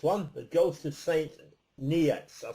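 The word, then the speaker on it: St Neots: The ghost of Saint Neots. I'll spell it for you. I'm not even pronouncing this right. It's Neots. Church. Neots Church.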